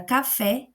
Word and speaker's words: café: Então, na palavra café, café. K vai ser a minha sílaba átona. A gente não coloca força para falar essa parte.